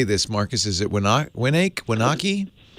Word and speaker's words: Wenatchee: Marcus, is it Wenatchee? Wenatchee. It's an Indian name.